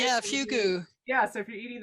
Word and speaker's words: fugu: Is that how you pronounce it's like it? the fugu, right? Yeah, fugu.